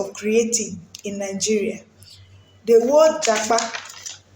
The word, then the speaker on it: japa: The word “japa”, spelled j-a-p-a pronounced j-a-k-p-a, was not originally a